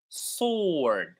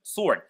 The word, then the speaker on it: sword: It is pronounced as sword. Sword. So the W is silent in this word. Never pronounce the W.